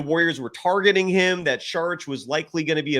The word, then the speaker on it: Šarić: You actually do enunciate the start of his last name with an SH sound, so it's Šarić. But Dario Šarić, 6'10", Rayvon adding to that in the chat.